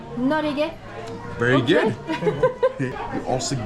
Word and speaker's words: Norge: Norge. Norge.